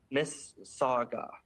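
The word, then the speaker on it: Mississauga: Uh it's pronounced Miss Saga.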